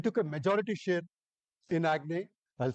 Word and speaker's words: Aggne: In Q4, we took a majority share in Agne. I'll spell it for you.